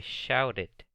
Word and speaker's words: shouted: I shouted. Yo grité. Shouted. Otra vez si se pronuncia la E. Shouted.